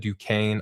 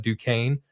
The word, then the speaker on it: Duquesne: player here out of Duquesne. I learned how to pronounce that today. Duquesne spelled Duquesne or something. That's how I spell it, but Duquesne. I'm pretty sure it's French.